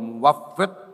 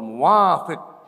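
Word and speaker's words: الموفق: Padahal itu berubah dikit beda maknanya. Ada yang wallahul muwafiq ila aqwamit thoriq. Kalau bacanya begitu menjadi Allah itu setuju dengan kaum-kaum jalanan, aqwamit thoriq.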